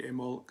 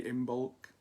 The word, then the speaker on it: Imbolc: I say Imbolc, some say Imbolc. Neither is right and neither is wrong. I think in Scotland it's pronounced Imbolc and in Ireland Imbolc, and seeing as I